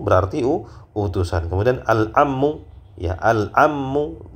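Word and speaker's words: العم: utusan kemudian alammu ya alammu dengan mentasdid huruf mim alammu Paman ya Paman dari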